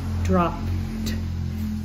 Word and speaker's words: dropped: we have dropped so drop ends in a p and the e d sounds like dropped all the P words